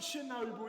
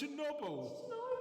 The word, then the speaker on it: Chernobyl: It's not Chernobyl, it's Chernobyl.